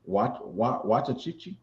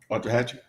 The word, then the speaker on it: Waxahachie: I can't pronounce the city. Waxahachie, Texas. Waxahachie.